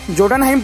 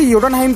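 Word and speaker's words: Jotunheim: Spelling के हिसाब से तो इसे जोटनहाइम पढ़ा जाना चाहिए, लेकिन इसे योटनहाइम कहा जाता है।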